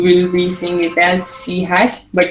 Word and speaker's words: C#: So you will be seeing it as C#, but it's pronounced as C#.